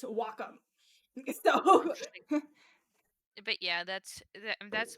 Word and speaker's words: Wacom: Just how you pronounce that? I don't think Waycom. Nope. Nope. I actually I actually got a demo. Want to know what how uh that's actually pronounced? Wacom.